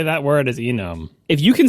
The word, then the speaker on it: enum: It's not enum. Yeah, it's for enumeration. It sure is enum. Oh, come on. No, it's because it's enumeration.